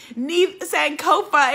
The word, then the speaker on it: Neith Sankofa: Neith Sankofa is in the house. And yes, that is the way we have to say her name. And Chandra said, Neith Sankofa, she is here.